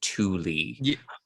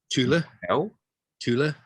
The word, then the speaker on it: Thule: pronounced in danish as thule um how is it pronounced in german tula chula tula okay that's close to danish i've heard it pronounced